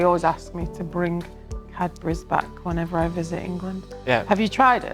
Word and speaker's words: Cadbury: prefer gorinka or cadburis do do you say it like calburis or cabris? Yeah. Sorry I have to say it's cadbury.